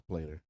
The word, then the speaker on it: Plater: Charles Plater. Charles Plater. Don't call him Platter. He's a plater, not a platter.